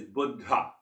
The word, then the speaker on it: Buddha: So the actual pronunciation is Buddha.